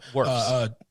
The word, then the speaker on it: Wirfs: I always mispronounce his last name. Wirfs.